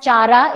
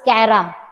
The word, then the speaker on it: Chara: So don't pronounce it as Chara, it is Cara.